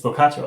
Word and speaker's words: Boccaccio: It's Boccaccio.